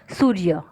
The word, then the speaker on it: सूर्य: तो य जो है सूर्य, जब हम उच्चारण करते हैं, प्रोनाउंसिएशन करते हैं, तो हम क्या बोलते हैं, सूर्य। क्या बोलते हैं, सूर्य। तो हमारे जो बोलते हैं उच्चारण, तब र आधा होता है।